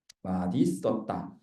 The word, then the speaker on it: 맛있었다: 시옷이 디귿으로 된 다음에 연음돼야 된다는 얘기야. 그래서 맛있었다 이렇게 돼야 되는 게 원칙 발음입니다. 여기 있죠. 맛있었다.